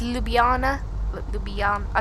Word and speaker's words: Ljubljana: general aviation parking here at little Jana I'm pronouncing it totally wrong on my look I think it's Ljubljana but you'll be um